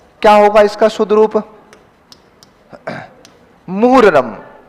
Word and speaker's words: मुहर्रम: दृश धातु में अन्य प्रत्यय क्या होगा इसका शुद्ध रूप मूरम मोरम मत चेप के जाना वहां शब्द क्या होता है मूरम ये ध्यान रखिएगा मोहरम नहीं होता है अपने स्कूल में क्या